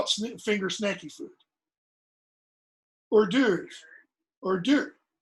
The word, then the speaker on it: hors d'oeuvres: What's the first word? You pronounce it or. You don't pronounce it hors d'oeuvres, I hope, okay? But it begins with an H. You have no initial H sounds in French. Nothing in French would start with okay?